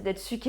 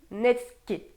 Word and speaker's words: netsuke: parce qu'à mon avis, je suis pas du tout dedans. Bon, on va vérifier. Alors je l'étais pas du tout. On dit netsuke.